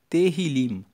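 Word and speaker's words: Tehilim: No hebraico, o livro de Salmos se chama Terrilim. E Terrilim se escreve T E H I L I M.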